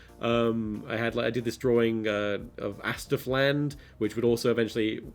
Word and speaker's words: asdf: So oddly enough, I never did anything with that on account of the fact that he's pronouncing Astif wrong. He was the first to call it ASDF.